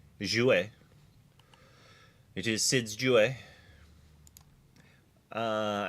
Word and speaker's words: jouer: If it's even French, it is Jouer.